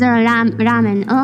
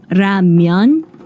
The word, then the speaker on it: 라면: The Korean pronunciation is kind of different. Yeah, because 라면. in Japanese is ramen, but in Korean it's ramyeon.